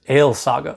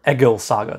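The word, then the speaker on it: Egils saga: entertaining the next saga is ale saga or ego saga depending which pronunciation modern icelandic or reconstructed old norse you're going with and this may well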